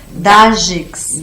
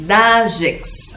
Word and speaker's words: Dajcs: A pronúncia correta? Dagex. Dagex.